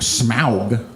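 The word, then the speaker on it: Smaug: JRR token referred to smow I say it like that cuz it's more fun and it's correct he says that smow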